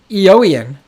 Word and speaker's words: Eoin: Eoian is pronounced like Owen. Thank you, Disco Tyke, and everyone else who sent that to me. I'm just going to continue calling him Eoin, because I think that's funny.